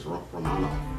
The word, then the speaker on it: Romanov: So that's how you pronounce it, Romanov.